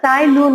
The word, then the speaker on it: Tsai Lun: Here T is silent children. You should not spell T.